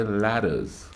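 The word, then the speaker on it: Lattas: know what I mean there's a store down here that was spelled l-a-t-t-a-s but they say ladders so when you when they send you the Google file they send me to go find ladders I was looking for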